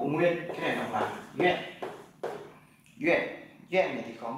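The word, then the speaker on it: 院: Bộ nguyên, cái này đọc là yue.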